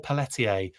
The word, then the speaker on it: Pelletier: I said Paul's name wrong. It's Pelletier. It's Pelletier, I think. I try and go real French on it, even though that's not how you pronounce it.